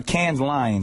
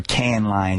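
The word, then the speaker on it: Cannes Lions: We were just out there uh Can's Lion. So there's a bunch of stuff going on or can lines. You don't pronounce the S.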